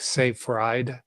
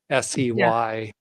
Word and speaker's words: Seyfried: Thomas, it's spelled Seyfried. So it's like Seyfried, Seyfried. Fried eggs.